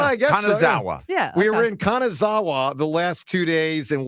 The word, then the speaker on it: Kanazawa: That's Kanazawa. Okay. What do I know? I think it's pretty straightforward in Japan. Well, I guess we were in Kanazawa the last two days and walked through uh